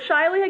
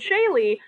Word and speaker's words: Shaily: So the way she spelled my name in American English is actually people like to pronounce it Shaily. Even though in French it's pronounced Shaily, but she decided to make it a little bit more complicated for me.